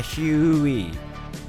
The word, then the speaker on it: Huey: Bacanya Huey.